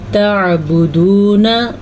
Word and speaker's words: تعبدون: تعبدون من دون اللہ، تعبدون، عین کے تلفظ کا آپ نے دھیان رکھنا ہے. اگر اس کو آپ تعبدون پڑھیں گے تو آپ تو الف پڑھ لیں گے، حمزہ پڑھ لیں گے تو آپ غلط کریں گے.